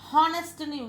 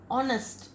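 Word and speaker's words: honest: ஆனஸ்ட், நம்ம ஹானஸ்ட்னு இதை read பண்ணக்கூடாது, ஆனஸ்ட் இது வந்து vowel sound, so யூ புட் ஆன்.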